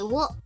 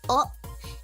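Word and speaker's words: を: Okay, so you see, wo. Actually, it is more commonly pronounced as o, and it sounds exactly like, okay, as you see here, like o.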